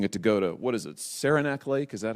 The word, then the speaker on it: Saranac Lake: you were using a Dakota what is it Saranac Lake is that how I say it I've never been there is that is that the right pronunciation Saranac Lake that was your destination yes so did you